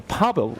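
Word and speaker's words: Paweł: me why you power pav pav the W is whatav that W is pronounced as a v pav okay thank you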